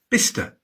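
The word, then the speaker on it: Bicester: There are no absolute rules in English place names, but cester is usually shortened to stir, bister, glouester.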